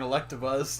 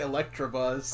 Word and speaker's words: Electabuzz: There's no R in Electabuzz. You see, you always say Electrabuzz.